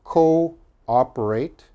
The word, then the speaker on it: cooperate: says double o but the double o they are pronounced separate okay they are not pronounced together so this word is co operate coordinate cooperate coordinate okay